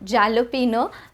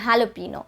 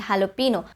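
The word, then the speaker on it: jalapeño: looks like mojito and jalapeno but that would be incorrect it's mojito and jalapeno the j is pronounced as an h sound in the spanish language so it would be mojito and jalapeno kind of like this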